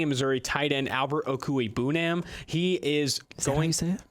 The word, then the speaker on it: Okwuegbunam: Staying in Missouri, tight end Albert Okwuegbunam.